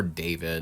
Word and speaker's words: D4VD: known professionally as D4VD, or David, if you want to pronounce it that way.